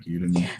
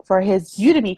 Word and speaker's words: Udemy: I guess it's Udemy, you know, like Academy, like Udemy.